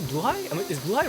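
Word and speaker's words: Blåhaj: So then I saw an actual video, and yeah, it's apparently pronounced Blue-High, I think.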